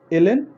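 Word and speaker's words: ln: অনেকে বলে লন, আসলে এটা লন না, এর উচ্চারণ হচ্ছে যে এলএন ইউজ করা হয়, লগ ন্যাচারাল, ওকে এলএন দ্বারা রিড করা হয়।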